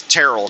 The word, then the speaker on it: Terrell: According to the the two or three people that commented about my pronunciation of Terrell, it's Terrell, Texas.